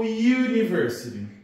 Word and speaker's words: university: Eu falo anniversary ou university?